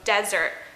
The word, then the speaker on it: desert: So when we're talking about the word dessert, we want to put the stress on the second S here, so dessert. As where desert, we want to put the stress on the S here, so desert. So desert, dessert.